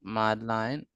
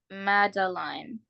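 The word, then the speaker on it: Madeline: and who else line mline mline or mine madine oh mline pronounce it again madaline madaline okay I've been pronouncing your name wrong all a while madaline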